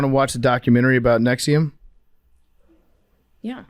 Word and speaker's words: NXIVM: All right, so you guys want to watch the documentary about Nexium? Yeah. And we can do the Nexium, or is it Nexium? It's Nexium, but it's spelled with a V.